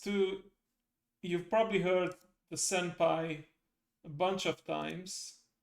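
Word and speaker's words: 先輩: I believe it's not even taught in the first two levels but if you for the sake of curiosity this reads as senpai.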